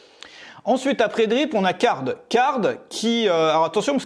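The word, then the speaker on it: Carrd: Ensuite, après Drip, on a Card. Card qui... alors attention, parce que ça s'écrit pas comme Card en anglais, c'est avec 2 R.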